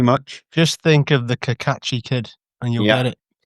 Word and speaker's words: Cacace: So yeah, Liberato Cacace. I think that's correct pronunciation, or is it Cacace? Yeah. Thank you very much. Just think of the Cacace kid, and you'll get it.